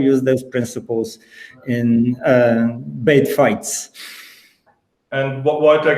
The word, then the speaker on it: Beit: fine if you tell b i t that's fine uh we usually call it bait and this comes from jewish meaning home but if you um